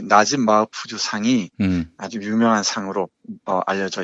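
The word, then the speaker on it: نجيب محفوظ: 네, 정확히는 나집 마우프즈 이렇게 발음하는데요.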